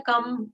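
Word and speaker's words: कं: च छ ज, ये, और उनके ऊपर बिंदी लग जाती है, तो फिर उसको हम ऐसे प्रोनाउंस करते हैं, कम, खम, गम, ये हमारे बीज मंत्र हो जाते हैं इस तरह से सारे।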